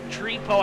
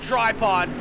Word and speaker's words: Trepo: As Trepo, I'm trying to get his name right. He told me last week that it's not Tripod, even though that's the way it's spelled. It's Trepo, I do believe.